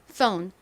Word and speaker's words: phone: 좋습니다.이 부분은 폰보다는이 ph가 f처럼 세게 발음나죠. 그러니까 phone phone 이렇게 발음해 주세요.